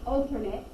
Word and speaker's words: alternate: you guys or alternate you use the pronunciation a little differently depending on if it's a noun or a verb so here we're going to use alternate because we're using it like a noun we're describing that angle